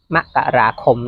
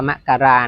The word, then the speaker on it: มกราคม: ที่ 10 7 ม มกราคม นะ ครับ อ่าน ว่า มกราคม นะ ครับ ไม่ ใช่ มกราคม นะ ครับ ถ้า เป็น อ่าน อ่าน เหมือน เมื่อ ก่อน แรก ๆ จะ อ่าน กัน ว มกราคม แต่ ว่า ถ้า ตาม